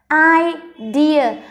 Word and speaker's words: idea: I, dear. Trọng âm rơi âm thứ hai nên mình đọc cao âm thứ hai này.